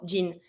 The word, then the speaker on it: jean: We keep the same pronunciation as in English to say like the jean material, jean.